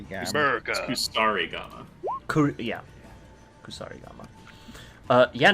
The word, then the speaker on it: kusarigama: Yeah, that's the American way to pronounce it. That hits. Mercy gamma. America. Kusari Gamma. Yeah, Kusarigama.